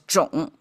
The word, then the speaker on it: 冢: Okay, so that's the association and the whole thing pronounced as "joong".